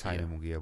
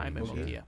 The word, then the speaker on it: Munguia: It's Jaime Munguia, but that's how you say it. Jaime Munguia.